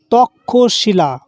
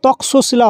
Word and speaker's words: তক্ষশিলা: উচ্চারণ হবে তক্ষশিলা। এখানে তশিলা হবে না। তক্ষ এর মত উচ্চারণ হবে এটা।